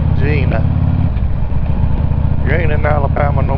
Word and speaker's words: Jena: we go back here through Jenna Gina excuse me Gina you ain't in Alabama